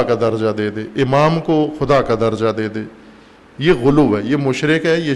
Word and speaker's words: غلو: میں کہتے ہیں غلو۔ غلو نہیں، غلو پنجابی تلفظ ہے، عربی تلفظ کریں غلو، سب کہیں غلو۔ غالی یعنی جو مخلوق